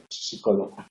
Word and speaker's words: psicólogo: De la misma manera que tampoco se pronuncia psicólogo.